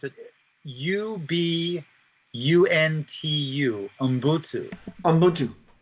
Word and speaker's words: Ubuntu: Ubuntu. And it's a Zulu pronunciation, and it means humanity, all of humanity.